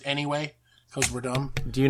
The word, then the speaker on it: NEWay: If you go on Facebook, it's NEWay, but we pronounce it anyway.